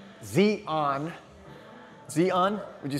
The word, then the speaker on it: Xi'an: States, and that is, I'm gonna pronounce it XI'AN, not XI'AN, which is Z-I-Z-A-N. This is X-I apostrophe A-N.